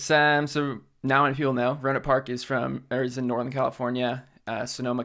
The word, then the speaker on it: Rohnert Park: Is that how you pronounce it? Yeah, Rohnert Park. What's this place like? How does this shape you into who you are today? It's so now many people know Rohnert Park is in Northern California, Sonoma County to be